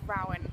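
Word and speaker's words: Ruadhan: from my friend Rowan, and it's spelled in the Gaelic way. So it has an unnecessary D and an H and A's and a U. Why don't you tell them how it is spelled? R-U-A-D-H-A-N. Okay. So it's Rowan.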